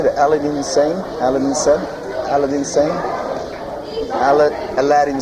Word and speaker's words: Aladdin Sane: Aladdin Sane? Aladdin Sane? Aladdin Sane? Aladdin Sane. Aladdin Sane.